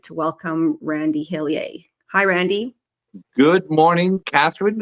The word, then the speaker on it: Hillier: the pronunciation though is hiler even though I'm from Eastern and central Canada there is no um there is no French pronunciation uh well thank you